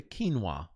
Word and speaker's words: quinoa: She peed in the quinoa. You know, that's how you pronounce Q-U-I.